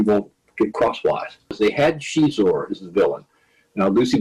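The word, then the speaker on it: Xizor: Now, Lucy Wilson came up with the name Shizor because it's sort of loosely based on, I guess she had a boyfriend at one point who was Portuguese. And so the pronunciation of that XI is SH.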